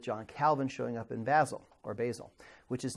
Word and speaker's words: Basel: end up with John Calvin showing up in Basel, which is not where he actually ultimately ends up. And again, I don't know whether it's Basel or Basel. So is it Basel? Okay, Basel.